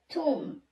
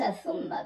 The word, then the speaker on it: ثم: والباء في توب السريانية تحولت إلى ميم في المندائية حيث تلفظ توم، ومنها الكتابة المختصرة بدون واو في القرآن بالثاء والميم بقراءة ثم. والمفروض أن تقرأ توم وليس ثم بتشديد الميم.